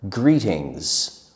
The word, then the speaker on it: greetings: Another formal greeting is the word greetings with a z sound at the end.